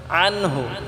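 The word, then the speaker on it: عنه: আনহু, এটা আমরা আইনটাকে গলায় চাপ দিয়ে উচ্চারণ করব, আনহু বলবো না।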